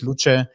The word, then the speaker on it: Luce: by the way it's Lucha it's the Italian word for light that they went for